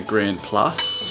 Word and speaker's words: Grand Place: think it's called the Grand Place being pronounced the grand Plus Grand Place Grand plus